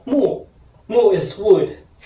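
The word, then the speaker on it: 木: Mu. In Chinese, it's pronounced as mu.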